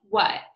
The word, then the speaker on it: what: Okay, so when we're reading what, we have to remember to pronounce the letters W-H as W, W, and the letter A as so it would be what.